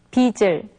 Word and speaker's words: 빚을: But when they are followed by the object particle 을, their sound changes. So it's not 빛을, but it's 빛을. And rather than 빛을, it's 빚을. And instead of 빛을, we say 빛을.